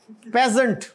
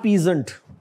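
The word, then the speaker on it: peasant: और आगे जो है ये पेजेंट, नॉट पीजेंट, पेजेंट, इसमें मतलब ये समझ लें कि ये ए साइलेंट है तो इट इज पेजेंट।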